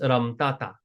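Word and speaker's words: રમતા હતા: Ramta hata is pronounced ramtata.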